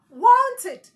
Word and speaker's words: wanted: before adding your Ed such words are pronounced as it and not Ed I have s o